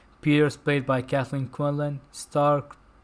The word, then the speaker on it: Starck: played by Kathleen Quinlan, Stark. That's how you pronounce her name, right? Stark? Mhm. Yeah, because her last name is spelled Starck.